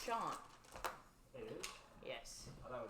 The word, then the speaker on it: Sean: my name is pronounced all the time cuz it's Sean it is yes I thought was Shan well that's better I got called shaan this morning have a coworker whose last name